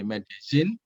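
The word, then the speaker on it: Medellín: Medellin, tulisannya Medellin gitu ya, tapi karena ini ejaan Spanyol, double L dibaca Z jadi Medellin.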